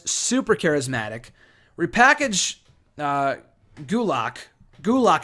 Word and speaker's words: Gulak: charismatic repackage do lock gulick i think is how you pronounce it i'm sorry gulak i think is a